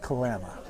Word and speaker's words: Kalama: Apparently it's pronounced Kalama. Kalama, yeah. Like lamb.